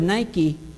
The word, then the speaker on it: Nike: And when reading time rolls around, it's hard to understand why the word Nike is not pronounced like bike or hike or Mike.